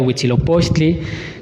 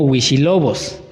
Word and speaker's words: Huitzilopochtli: de su palabra original, también tenemos otra deformación en la palabra de Huitzilopochtli, que ya posteriormente se entendió que realmente era Huitzilopochtli, que inclusive lo podemos encontrar como cómo lo nombraba en las cartas de relación de Hernán Cortés, que él inclusive no lo llamaba Huitzilopochtli, sino que él lo mencionaba como Huichilobos.